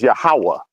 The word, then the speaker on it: Yahweh: Which is what but we it's pronounce as Yahweh.